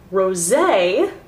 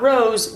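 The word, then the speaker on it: Rosé: and take the shade rose that's how it's pronounced ladies not rose rose it's a rose gold color there's an accent over that e it irks me when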